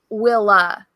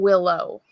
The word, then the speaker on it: Willow: So she pronounced it Willa, not Willow.